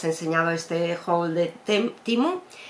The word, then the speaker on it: Temu: Se escribe Temu, pero dicen que se pronuncia Temu.